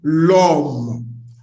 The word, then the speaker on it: l'homme: L apostrophe, on va dire l'homme. L'homme. Why? Because the word here, which means man, begins with H. H is a silent H here. And here, it is not plural, it's singular.